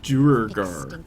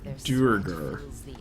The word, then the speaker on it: Duergar: Duergar. Duergar.